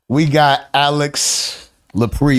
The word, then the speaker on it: Alix Lapri: And we got Alix Lapri. Am I pronouncing that correctly? Correctly, yeah. In the building.